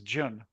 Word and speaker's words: Jun: And you say his name, his name is he pronounces Jun Jun. Jun. Okay. Kind of like June, but June.